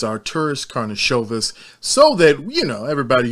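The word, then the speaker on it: Karnišovas: let's just help wojc out here it's our tourist karnashovis so that you know everybody who wants to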